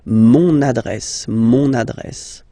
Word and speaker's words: mon adresse: you can hear now this little link, so you've got to pronounce this N, mon adresse, okay.